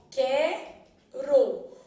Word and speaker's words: quero: se cadastrar quer quero então quero o u não foi pronunciado logo Ele formou que